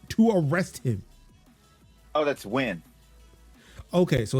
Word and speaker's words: Nguyen: Oh, that's Win.